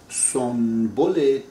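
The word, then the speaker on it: سنبل: bin dar in bahar, Sonbul Tajreed bin az zulf yar. This is written Sonbul, but in Persian, whenever N comes in front of the B, N pronounced as M.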